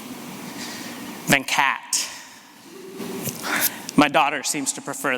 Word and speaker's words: Venkat: is still somewhat challenging there's a few different pronunciations there's the one that my Indian family would recognize venkat there's one that often people gravitate to then caught and there's one that I've sort of settled on as the Americanized version of my pronunciation then cat my daughter seems to